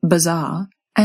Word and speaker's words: bazaar: Mais il y a une chose intéressante qui arrive aux "I" non accentués dans la prononciation RP- il a tendance à se transformer en [ɪ] comme dans "bit" cela signifie que dans la RP, vous pouvez vraiment entendre la différence entre "bazaar" (RP) et "bizarre" (RP).